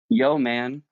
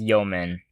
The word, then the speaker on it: yeoman: Yo, man. What's up? Yeah, it kind of sounds like that, but it's pronounced yeoman.